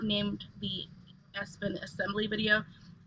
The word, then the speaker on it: Espin: So sometimes my pronunciation of words is different, but it's definitely Espin.